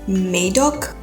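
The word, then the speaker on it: Madoc: up and it said that Maddox's name is pronounced Maidok.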